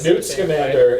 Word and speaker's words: Newt Scamander: Newt Scamander, and I like that movie.